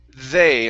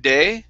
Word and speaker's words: they: try it as well with the word they instead of day it's the they they